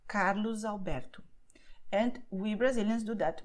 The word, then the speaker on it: Carlos Alberto: begin with a vowel, then the letter S is going to sound like the letter Z, which is why you say Carlos Alberto.